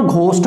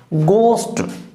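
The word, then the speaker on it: ghost: अब देखो इस पे थोड़ा सा ध्यान देना, इसको ना घोस्ट पढ़ते हैं अपन, प्रोनाउंसिएशन इसका क्या करते हैं घोस्ट, note a घोस्ट, गोस्ट, गोस्ट, pronunciation क्या है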